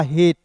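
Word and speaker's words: hate: लेकिन याद रखिए दोस्त यहाँ पे अंतिम में क्या दोस्तों, ई है, तो जब भी आपको अंतिम में ई दिखेगा और बीच में ए दिखेगा तो एच का ह लिख दीजिएगा, टी का ट लिखिएगा, और यहाँ पे ए जो है ना इसका उच्चारण एक एकले के रूप में करते हैं, हो जाएगा हेट, ठीक है।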